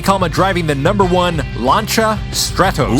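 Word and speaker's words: Lancia: number one launcha Stratos ooh launcher I didn't know you spoke French well apparently that's how it's pronounced you know 3D I'm just too American to make that cha sound without a c and an H let's go over the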